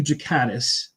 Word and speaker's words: Ghikadis: No, it's Jakatis. It's a it's a soft G.